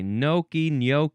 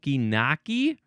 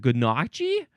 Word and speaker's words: gnocchi: Some people say naki. I'm surprised that there isn't a version of the pronunciation that starts with a g because people look at this word and they say I don't know how to pronounce that word and then they would how would is it ganachi? That's probably how some people want to say this word. Ganachi.